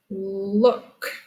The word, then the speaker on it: look: Last word rhymes with book. The word is look.